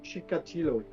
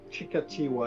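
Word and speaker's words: Chikatilo: And this is Andre Chicatillo. Well, they actually pronounce it Chikati.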